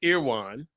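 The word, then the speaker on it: Erewhon: it's called so it's called Okay so it's pronounced irwan irwan my wife if you guys go check out her Tik Tok it's called earwa and you since you brought it up you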